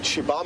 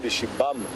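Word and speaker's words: xibamu: is pronounced shei so shibam is about x i b a m u kind of don't really pronounce the U at the end or at least you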